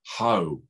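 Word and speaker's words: ὁ: greek it's normally preceded by the definite article ho now just imagine the word in english h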